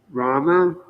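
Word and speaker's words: Ramā: the goddess of Fortune Rama who is absolutely dedicated to being enjoyed by the Supreme person oh this is Rama with a long a rama so then there appear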